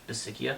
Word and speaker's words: Bisaccia: Bisaccia? Rich Bisaccia.